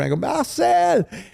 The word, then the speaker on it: Marcel: much as I could I go marel because that's how you pronounce it in Fr marel and he kind of